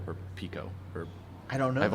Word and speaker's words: Pekko: This is Cascade, Chinook, and Pecco, or Pico, or I don't know. I've only ever seen it spelled. I don't know how to pronounce it. Pekko.